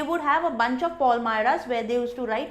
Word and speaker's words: Palmyra: So he has that, then he has a notebook, he has a bundle of Palmyra. इसको pronounce आप करोगे Palmyra, इसको Palmyra नहीं बोलते, इसको Palmyra बोलते हैं।